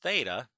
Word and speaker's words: theta: labeled as R okay so the sign of theta that's by the way how we pronounce that little variable is the opposite which